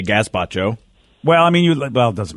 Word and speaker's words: gazpacho: Well, it's got a Z in it, so I say Gazpacho.